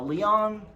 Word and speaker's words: Leon: Now, Leon is how you pronounce it.